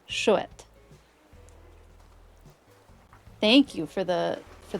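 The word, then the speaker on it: chouette: Ibu for the first one. Ibu and shet.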